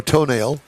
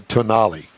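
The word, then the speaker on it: Tonale: in the Alpha Romeo toenail and the Dodge Hornet yes I did say that I think they call that a tonali but I I I it's spelled t o n a l e so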